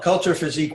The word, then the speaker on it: culture physique: physique welder all right so do you want to pronounce that for us properly culture physique wieder yes that's much better and I thought it had a great French accent to it so there we go